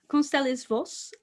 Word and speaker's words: Constelis Voss: Constelis Voss, number one.